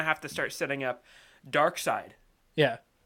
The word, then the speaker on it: Darkseid: it's that's gonna have to start setting up Darkseid yeah Darkseid it's Bernard s Eid I've actually enjoyed being